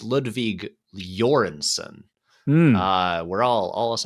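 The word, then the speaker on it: Ludwig Göransson: someone and um and apparently his name is pronounced uh it's it's Ludwig jorenson uh we're all all us Americans are saying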